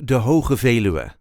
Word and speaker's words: De Veluwe: Netherlands de its full name is National Park de but we will focus on how we normally